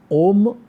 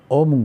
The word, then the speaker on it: ओम: ओम का जो उच्चारण है बहुत लोग गलत करते हैं। ओम जो है इसमें 5 अक्षर हैं, इसमें से 3 दिखाई देते हैं, ए यू एम, अ उ और म, और गु यानी कि